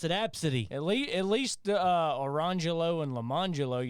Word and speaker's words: ABCDE: Her name was Absidy. Absidy. Yeah. That sounds a little too close to the word abscessed for me.